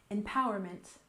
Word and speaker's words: empowerment: finally we have empowerment we stress the second syllable empowerment empowerment and in general this